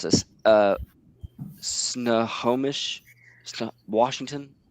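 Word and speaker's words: Snohomish: Uh, Snowomish. Washington. S N O H O M I S H. Yeah, it's Snomish.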